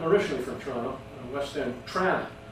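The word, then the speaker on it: Trawna: Tran, that's how you say it. I believe that's the correct pronunciation.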